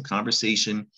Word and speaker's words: conversation: It doesn't look the way it sounds. You might have spelled it with a S-H-U-N at some point. So conversation, we add A-L at the end to get the adjective conversational.